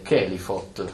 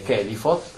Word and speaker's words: Kelipot: E quindi sicuramente affrontare, oltre alle Sefirot, tutto il percorso delle Kelifot, pare che si pronunci così, Kelifa, Kelifot sono i nomi dell'equivalente delle Sefirot.